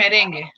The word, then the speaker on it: merengue: It's bachata and merengue.